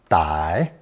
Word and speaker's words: 歹: As you can see, these are actually two different characters, one pronounced fourth tone 'ugh', an element that never appears alone, and another pronounced third tone 歹, 歹.